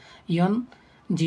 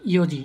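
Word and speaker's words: 四時: ইন পুন ঠিক আছে আমরা মিনিট ঘন্টার সময় কিন্তু ইয়নপুন বলি না ইয়ন জি বলি না আমরা বলি ইওজি ঠিক আছে এটু একটু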